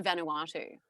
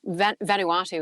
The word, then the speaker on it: Vanuatu: this guy, he was picking on me so, like, he was, how do you say Vanuatu?